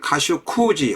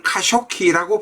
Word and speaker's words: 카슈쿠지: 이 카슈 꾸지는 카슈 쿠지 혹은 꾸지 혹은 카쇼키라고 발음하기도 합니다.